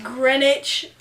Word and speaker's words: Greenwich: is like 15 minutes from the apartment it's Greenwich yeah which spelled like Greenwich if you're an American green sandwich